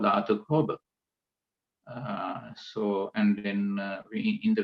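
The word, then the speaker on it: dhātukkhobha: just touch upon the Pali term as well, Dhatu Kobha. Once again, let me spell that for you again. DHA TUKKHOBHA. Dhatu Kobha.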